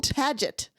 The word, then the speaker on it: Paget: So, Henry Cyril Paget. I was love the it all. fifth Pageant? Marquis. Yes. Henry Pageant? Cyril Paget. Oh, Paget.